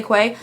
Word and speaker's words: Quay: the most honestly are some people say it's pronounced key but it's spelled quite so i say quay i love those so